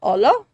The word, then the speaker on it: hola: say hello in Spanish hola I don't know if you know how to say it is H yeah hola or hola I think it's h I think the AG is silent okay what's a good